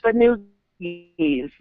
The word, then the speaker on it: Fanoogies: Is that how it's pronounced? Fanoogies? Fanoogies. Oh, I thought it was Fun You Guys. Yeah, it's spelled Fun You Guys, but it's pronounced Fanoogies.